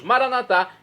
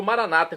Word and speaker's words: maranatá: E agora eu clamo do aramaico, dialeto de Jesus, maranatá, como dizemos nós católicos, ou maranata, como dizem nossos irmãos separados, os evangélicos ou protestantes.